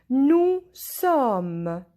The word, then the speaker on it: nous sommes: Nous sommes. Here S is silent.